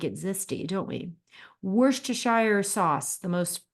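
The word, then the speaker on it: Worcestershire: too we do like it zesty don't we wor T Shire sauce the most mispronounced ingredient in culinary language it is a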